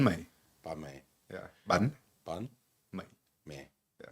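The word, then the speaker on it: bánh mì: sneaky little half a banh mi on the side. Yeah. How do I say banh mi? Banh mi. Banh mi. Yeah, banh Banh mi. mi. Yeah. My. It's like me. Me. Yeah, banh mi.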